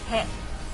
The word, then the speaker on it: へ: When the hiragana character for he is part of a word, it's pronounced he. But when it's used as a particle, it's pronounced e.